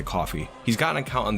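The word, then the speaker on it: Ko-fi: got a coffee account ko phi i've heard people pronounce it both ways i'm gonna say coffee he's got an account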